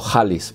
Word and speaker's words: Khalis: Attek de la casa Khalis o Khalis, porque KH se pronuncia como J en árabe.